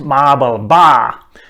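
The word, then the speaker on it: Marble Bar: ba was mentioned the town whose name is pronounced mabel ba in australian english and the traditional another name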